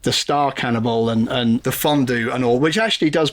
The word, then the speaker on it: fondue: Here, you have fondue that's supposed to rhyme with stew and crew. And it does that job perfectly fine. Why do you deliberately mispronounce it fondue so that it doesn't rhyme with either of those two words?